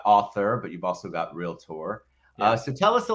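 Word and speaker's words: Realtor: tour uh but it's so funny when you listen to a real tour say it incorrectly it just cracks me up uh so I'm glad you brought that up I'm glad you tour two syllables real Tor uh so wal I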